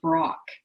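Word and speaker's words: Brach: And one person I did not mention on there is Tara Brock. Her last name is spelled B-R-A-C-H, and her first name is Tara.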